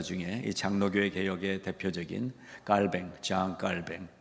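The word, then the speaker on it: Jean Calvin: 장로교회 개혁의 대표적인 깔뱅 장 깔뱅 원래 이름이고 우리 영어식 발음으로는 존칼빈 칼빈의 그 사역했던 현장 그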